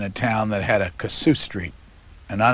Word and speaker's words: Kossuth: and how do you really pronounce it? Kossuth.